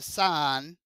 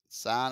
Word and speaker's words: sine: we could say the sine and that's pronounced sine not sin I know somebody's like